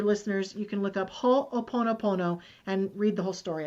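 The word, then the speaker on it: Hoʻoponopono: any of your listeners you can look up ho oponopono and read the whole story about it can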